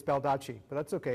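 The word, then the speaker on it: Baldacci: David Duque Bob dodgy I'm not saying it right it's bel touchy but that's okay it's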